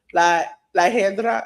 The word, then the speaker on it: La Hiedra: Iguana was a special referee because La Hedra, is that how you pronounce it?